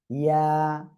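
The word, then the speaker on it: ي: এই যে ইয়া, ইয়া, আর এ অক্ষরে আপনার টেনে পড়তে হবে কয় আলিফ, এক আলিফ টান দিতে হবে, ঠিক আছে।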